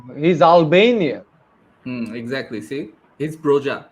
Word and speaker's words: Broja: See, he's Broja, not Broha.